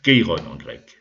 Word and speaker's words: Chiron: personnage important qui s'appelle quiron chiron sont prononcés à la française keyrus alors qui sait ce